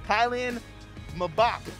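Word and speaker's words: Kylian Mbappé: and that was americans explained soccer apparently it's pronounced kylian mabak and dusan teddik i'm telling nago we're sorry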